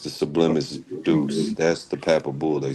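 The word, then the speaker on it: Sublimis Deus: It's the sublimis deuce.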